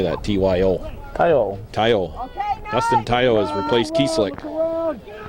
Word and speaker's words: Tayo: Tayo.